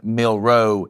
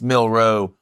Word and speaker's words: Milroe: He says, why does Jake pronounce Jalen Milroe's name like it has 2 syllables in it? Jalen Milroe. It's Milroe. 1 syllable.